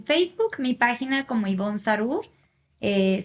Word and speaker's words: Zarur: mi página como ivón sarur eh se escribe con d n e al final mi nombre sarur Z rur en instagram como hoy